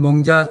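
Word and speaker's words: 艋舺: 완화는 원주민 언어로는 멍자 대만으로는 방카로 발음한다고 합니다.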